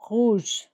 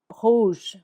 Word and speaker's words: rouge: First one, rouge, red, rouge.